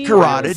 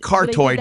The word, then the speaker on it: carotid: It's carotid. Screw that up. I know it looks like cartoid, but it's carotid.